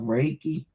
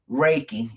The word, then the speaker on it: Reiki: to do meditation and something called Reiko Reiko raiki Reiki yes I'm going to learn how to do